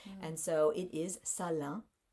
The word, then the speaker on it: Salaün: And so it is Salaün. So it's like in the back, Salaün. It's not Salaün. So, which, it doesn't look like that, the way that it's spelled necessarily.